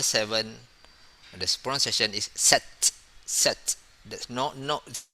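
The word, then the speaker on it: sept: then seven we pronounce set okay in this case we not pronounce the p but we pronounce t set for seven for number seven the spawn session is set set no no spelling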